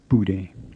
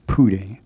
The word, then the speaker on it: Bude: The first sound we're going to look at is the P sound at the beginning of Bude. You probably noticed that it isn't quite like an English P, which would make the word sound like Pude, and it's not like